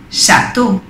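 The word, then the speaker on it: château: house naranja o haunch pero si encontramos la eeuu seguidos se dice o chato castillo santo y si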